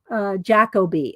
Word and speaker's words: Jacobi: It's Jacoby. All right, Terry said, because the Brits, that's how they they would know how to pronounce it. He's British. That's what Cadfael is. Jacoby.